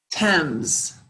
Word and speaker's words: Thames: Thames.